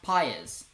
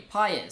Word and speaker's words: Paez: by the way, Josh, my name is pronounced Paez. So that's easy. He spells it out for me, Paez.